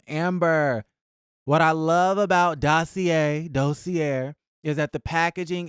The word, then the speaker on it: Dossier: I was pronouncing it dosier and listen I've been pronouncing it though Sierra for years and they never corrected me but you guys were saying dossier so dossier dosier listen d-o-s-s-i-e-r dossier or dossier either way